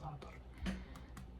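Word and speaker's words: Za'atar: And the reason why it's important is because they had Satar, or the Satar, it's pronounced Satar.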